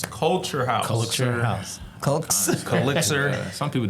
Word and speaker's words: Culxr House: It's not color. I've heard people say Color House. It's Culxr House.